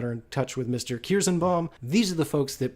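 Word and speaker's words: Kierszenbaum: Martin Kirsenbaum.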